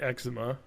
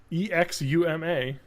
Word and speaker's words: Exuma: on the island of great eczema well that sounds bad when I say it like that great egg Zuma e-x-u-m-a Exuma Great Exuma eczema I'm gonna call